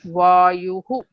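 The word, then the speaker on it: वायुः: There you have to say it as U. The preceding the visarga is U. That is, you have to pronounce it as Vayuhu.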